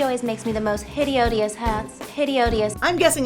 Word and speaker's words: hideodious: some mismatched endings where we would just say hideous Glenda adds two more syllables hideous hi Odus she always makes me the most hide odious hats hide odious I'm